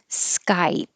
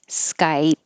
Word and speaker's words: Skype: Skype. You wouldn't hear the P. Skype. You just close your lips unless the vowel was after it. So Skype is would sound like sky piss.